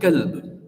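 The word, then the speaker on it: كلب: tajweed, is if you take the word kalb with a Kaf, which means dog. But the same letter, if you pronounce it with a Qaf and you say qalb, it means heart.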